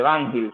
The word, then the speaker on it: Van Hiele: se llama la teoría de danielle es vale o de banfield si lo queréis pronunciar bien entonces mi pregunta es